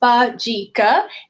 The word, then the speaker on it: Bajika: And Bajika may sound like a strange word, but it's pronounced Bajika.